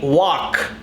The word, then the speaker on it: walked: Walked, not walked, no, walked.